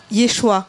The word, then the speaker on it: Yeshua: Alors, Yeshua, est-ce que m'y prononce bien ou pas?